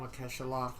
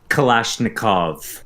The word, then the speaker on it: Kalashnikov: Mikhail Makeshalov, or however you pronounce that. Kalashnikov.